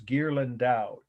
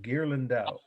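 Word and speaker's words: Ghirlandaio: you know the meaning the artist's name is gerland dao g h i r l a n d a i o gear lindau i'll spell it again g-h-i-r-l-a-n-d-a-i-o 1480 is the year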